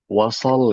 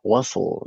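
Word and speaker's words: وصل: Jadi jangan dibaca wasal gitu ya. Wasl dia shadnya sukun ya.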